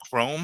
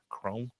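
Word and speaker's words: Khrome: with his daughter um Chrome I think is how you uh how you say it. Uh K H R O M E Chrome.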